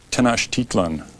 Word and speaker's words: Tenochtitlan: Chapter 3, Cortez and Moctezuma, and you're going to have to pronounce it at? Tenochtitlan.